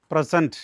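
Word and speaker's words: present: പ്രസൻറ് പ്രസന്റ് situation പ്രസൻറ് ഇപ്പോഴത്തെ what is പ്രസൻറ് situation അത് പ്രസൻറ് ആണ് എന്നാൽ സമ്മാനിക്കുക എന്നുള്ള ഒരു അർത്ഥമുണ്ട് അത് പ്രിസന്റ് ആണ് പ്രിൻസിപ്പൽ പ്രസന്റഡ് ദ അവാർഡ്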